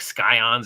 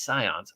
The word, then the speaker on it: Scions: I know I have when I was a kid that was like skion or yeah says like no it's Scions oh the sea is silent yeah just I don't